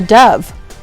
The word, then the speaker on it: dove: Sadie wrote about a beautiful bird called a dove. Dove rhymes with love.